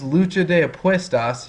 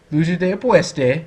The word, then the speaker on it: lucha de apuestas: She mispronounces lucha de apuestas. She's like, lucha de apueste. And I'm like, what are you even saying?